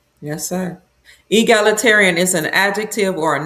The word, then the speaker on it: egalitarian: It's egalitarian. Say it again. Egalitarian. That's how you Yes, ma'am. That's how you say it.